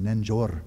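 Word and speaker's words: རྣལ་འབྱོར: You can see it, you can't even pronounce it, but it's pronounced nanjor. You'd never guess it unless you know Tibetan.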